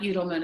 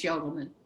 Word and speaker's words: Udelman: Yeah, it's not Udelman, it's Yodelman.